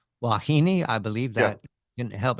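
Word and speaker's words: Huahine: we go to w wahini I believe that didn't help me wahini island huahini is pronounced uh and this is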